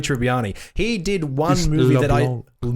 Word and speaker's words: LeBlanc: He did one movie LeBlanc. You don't pronounce the C.